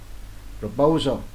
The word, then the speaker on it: proposal: Proposal, nhấn lần hai.